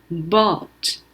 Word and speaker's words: bought: 여기 서 'ou' 는 중간 음절 의 'aw' 소리 를 냅니다 . 'gh' 는 묵음 이므로 발음 되지 않습니다 . 그러니까 발음 은 ' bought' 입니다 .